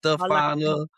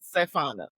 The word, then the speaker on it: Sefana: my life is Stefana. What else they call you? Sefana. Yeah, just, it's everything but Sefana.